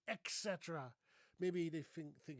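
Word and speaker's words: et cetera: By the way, there's no X in here. Do you see that? There's no there's no X. So, I don't know why people say etc.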